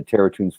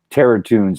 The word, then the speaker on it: Terratunes: Of course, I have the Terratunes 4 Indiegogo campaign, which is available right now for everybody. Go to Indiegogo and do a search for Terratunes, and that's spelled Toons, like cartoons, Terratunes.